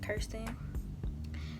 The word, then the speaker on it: Kirsten: frequently asked questions so my name is pronounced thirsty and I'm from Birmingham